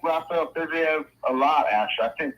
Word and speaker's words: Fiziev: How you say it? Fiziev. Fiziev. There's a V at the end.